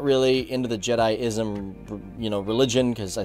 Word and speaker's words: Jediism: I was like wait a minute Leroy you're pronouncing jedism or jediism as jedism it's pronounced jedi-ism now I actually called him